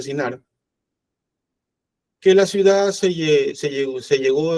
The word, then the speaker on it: Shinar: Fue en esta tierra de Shinar, se le escribe, se pronuncia Shinar, que la ciudad se llegó a conocer más tarde como Babilonia y que posteriormente como Mesopotamia.